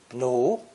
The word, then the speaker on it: 奴: Pronounced second tone, 奴, 奴.